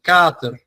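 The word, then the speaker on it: kater: If we replace that double t with one t, that a is going to sound much longer. Yeah. So, Carter is uh is spelled K A T E R. Yeah. So, that letter is going to be pronunciated much longer.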